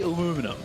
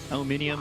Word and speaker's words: aluminium: See, we say aluminum, but I have come to... I cast a lot with, like, Mofara, so aluminium is definitely getting into my vocabulary.